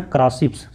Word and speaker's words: crassipes: इसको क्या बोलते हैं, इचोर्निया, इकोर्निया या इचोर्निया, क्योंकि इसका स्पेलिंग होता है EICHHORNIA। इचोर्निया क्रासिप्स, CRASSIPES क्रासिप्स।